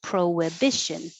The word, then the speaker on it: prohibition: sentences for these prohibition this pro doesn't change to pra even though it's not stressed because there's a vowel after it so it doesn't look like it but your lips make an a round pro with and it makes a w prohibition prohibition you can